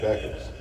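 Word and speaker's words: Bueckers: Paige Beckers.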